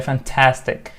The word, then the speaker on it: fantastic: right fantastic adjective suffer fantastic type henna three syllable words actually it's a three syllable it's it's not two syllables three celebs stress a second syllable fantastic fantastic right search the second syllable that's the pictures picture